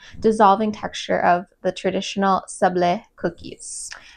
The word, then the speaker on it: sablé: Today we are going to be making these brown butter and sage sublaze. Sublaze sables h maybe I should learn how to pronounce this cookie first.